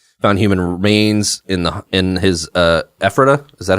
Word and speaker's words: Ephrata: Found human remains in his Ephrata. Is that how it's pronounced? Yes. Ephrata home, including corpses hanging from the ceiling.